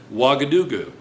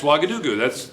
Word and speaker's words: Ouagadougou: And this is correctly pronounced, I think. Ouagadougou. And you're laughing? Really nice. You're really nice. You know? And the capital of Jordan is Amman. Okay, so now, it's Ouagadougou.